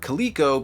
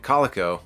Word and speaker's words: Coleco: Emphasis on the word Coleco because on a previous episode when I was talking about a Rambo action figure line, I said Calico, and everyone in the comments let me know I said it wrong.